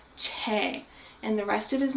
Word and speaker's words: Choi: look at it that the last name is spelled Choi. Now, Krista, do we actually say Choi? No. That's correct. We say Che. That's perfect. So even though it is spelled C-H-O-I, that is based on the kind of combination of the characters, with the consonant being that ch sound, so a C-H, and then there being two vowels associated with that name,